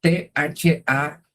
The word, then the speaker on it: Thames: Támesis en inglés se escribe T-H-A-M-E-S y la pronunciación correcta debería ser Thames.